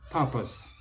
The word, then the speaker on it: purpose: main difference purpose yeah but in both cases the stress is of the first syllable purpose on your part